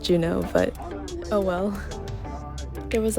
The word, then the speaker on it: Juneau: shot our next stop was Genoa Alaska actually I think you're supposed to pronounce it Juno but oh well it